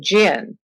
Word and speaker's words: jinn: That genie is a derivative of, actually a corruption of the name jinn, which is spelled both D-J-I-N-N and J-I-N-N, and it means the hidden ones.